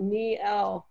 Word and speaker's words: Niele: It actually includes a pronunciation key for your first name. It spells it out, Niele.